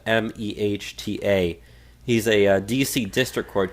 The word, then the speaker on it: Mehta: this one came from judge Mehta I believe that's how you pronounce the name it's a mah ta he's a DC district